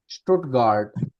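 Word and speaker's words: Stuttgart: स्टुटगार्ड, स्टुटगार्ड, स्टुटगार्ड।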